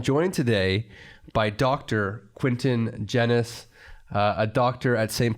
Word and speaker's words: Genuis: to my patients it's genus it rhymes with tennis originally it's actually an old maltese name so my father's family's from malta it was originally genwhis rhymes with fleece not